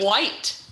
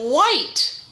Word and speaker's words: white: you see the word white isn't it so you have long eye make the e helps the eye say its name white but the h is silent isn't that weird so you have white all right here we